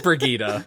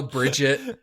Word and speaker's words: Brigitte: yeah, it's Brigida. But we'll allow Bridget, and I've heard so Baguette. yeah, Baguette. There's Baguette. so many pronunciations. They're all valid.